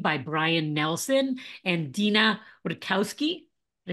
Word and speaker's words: Wojtkowski: Today, I'm joined by Brian Nelson and Deena Wojtkowski.